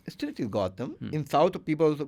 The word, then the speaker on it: Gautham: shouldn't be disturbed so I don't have to add the H when I'm pronouncing I don't have go yeah goam it's still is Gotham in South people also call me Gotham North also people calls